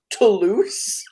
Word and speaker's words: Toulouse: Toulouse. You spelled it terribly, but you are phonetically correct.